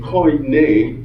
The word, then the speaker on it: Koine: Now, in Koine, that's how you say it, Koine Greek, the language that the Christian Greek scriptures were penned in, the word honor is time.